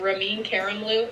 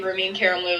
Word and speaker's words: Ramin Karimloo: actors and performers Sierra Boggess and ramin Karimloo ramin Karimloo is how you say his name honestly ramin Karimloo is like my crush I got celebrity crush